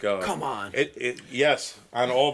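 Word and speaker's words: Kumon: Uh come on. It's Yeah, but it's spelled K U M O N. Did you ever see it? They're like in classes and stuff. It's called Come on.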